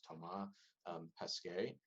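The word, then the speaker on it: Thomas Pesquet: macarthur uh tom okay this that astronaut is french um so i believe it would be pronounced tomah pesque then another jaxa astronaut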